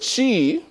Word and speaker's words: qi: a whole different meaning because she which just starts with a Q actually means energy right taiji represents the